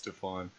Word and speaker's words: Stephon: It's not Steven, it's Stephon.